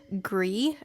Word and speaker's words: Gris: playthrough of griss or gree i believe is how people in the comments last time were telling me to pronounce this um the makers of this game i believe are from spain so that pronunciation makes sense if you look on